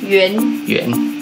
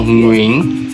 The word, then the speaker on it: Nguyễn: 到过了，圆其实不是，正确的发音叫做 “ 云 ”，云，云，云。